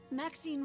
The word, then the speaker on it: Maxine: of most exquisite varieties maxine rhymes with queen after all and dearest that is